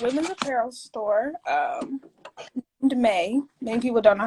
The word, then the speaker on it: Maeii: apparel store um to may many people don't know how to pronounce it but it's pronounced may like the month i got that name